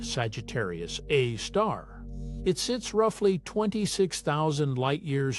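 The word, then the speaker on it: Sagittarius A*: The supermassive black hole at the center of our own Milky Way is called Sagittarius A, pronounced Sagittarius A star.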